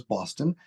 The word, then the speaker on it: Baughston: Our capital is Boston, but it's spelled with my name, Baughston.